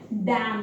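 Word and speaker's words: damn: डैम, D-A-M-N, डैम।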